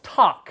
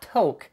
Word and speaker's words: Toq: The pronunciation is Toq, like TikTok, not Toq, at least until they release a Bob Marley edition.